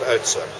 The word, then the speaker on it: Oudtshoorn: And then back to the good old Oudtshoorn.